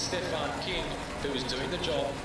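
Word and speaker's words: Küng: King the Swiss from it is spelled KU with a I'm not sure the name the symbol on top of it ng. So, as English speakers, you are drawn to saying, he says himself, it's pronounced king, which makes it easier.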